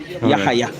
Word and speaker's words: Yahaya: No, pronounce the H hard. Yahaya.